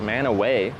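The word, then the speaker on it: Mantua: Manua Ohio is pronounced man away.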